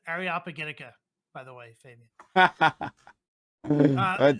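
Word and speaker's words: Areopagitica: to figure out that the way you pronounce it is ariopagitica by the way Fabian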